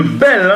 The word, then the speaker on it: Bell: Il s'agit de Bell et non de Ben. Voilà, la correction est faite. Rick Bell. Voilà, Rick Bell. Moi, je m'entêtais à prononcer Ben et pourtant, c'est bien Rick Bell.